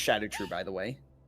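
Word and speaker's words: Scadutree: But if instead of shadow tree, it it's pronounced shadow tree by the way.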